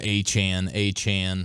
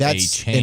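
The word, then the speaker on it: Achane: the other day too, going A-Chan, and not A-Chain. And Raheem Mostert earlier in that interview, he tells Rich Eisen that's how we actually are supposed to pronounce it. It's A-Chan.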